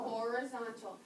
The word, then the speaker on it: horizontal: say the word horizontal horizontal horizontal sounds like the word horizon because the Horizon is a horizontal line a horizon horizontal lines